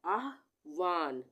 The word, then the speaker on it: आहवान: kick अलौकिक आहवान आहवान यहां पर क्या उच्चारण आ रहा है ह का ह का आधा उच्चारण आ रहा है और व का पूरा आ रहा है आवान ठीक है आहवान तो यह हो गया आधा ह इस तरह से पूरा नहीं बना और इसमें हम यह